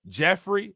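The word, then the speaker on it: Giuffre: you guys know that Jeff Jeffrey that's how you pronounce it Carla Jeffrey Virginia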